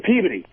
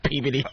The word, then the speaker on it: Peabody: No, I'm from Peabody. Peabody. Peabody. Right, Peabody. It is what it is. That is Revere and Saugus, you tricky bastard. People kill me. I'm from Peabody.